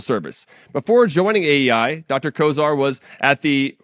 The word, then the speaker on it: Kosar: pronounce your last name Kosar bit like ber Kosar who once quarterback the Browns he was a distant